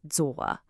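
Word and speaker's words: 左: For left, it is zuwa. You hear that third tone, it has a little dip and then a rise, zuwa.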